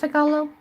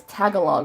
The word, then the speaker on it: Tagalog: for so freaking long I thought it was Tagalog right cuz that's how it sounds like you would be pronouncing English and heard other English you know other Americans say like teachers and stuff I heard them say Tagalog for so many years I was saying Tagalog and I always thought that cuz like I in my head it always felt wrong like I was like this cannot be how it's pronounced it just felt so